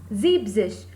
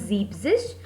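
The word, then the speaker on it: siebzig: And 70 it's Zeebzish. Again that rule. So that's why En is eliminated and the pronunciation becomes Zeebzish and spelling will become S-I-E-B-Z-I-G.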